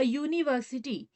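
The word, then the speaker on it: university: यही अ यूनिवर्सिटी।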